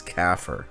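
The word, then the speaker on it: CAFR: And and going back just briefly before we wrap up, going back to the C CFR, the comprehensive financial reports pronunciation of that is caffer, right?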